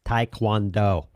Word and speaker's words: Taekwondo: It's Taekwondo. Boom! Nailed it. And I'm not going to do it in, because what happens is I go Taekwondo or something.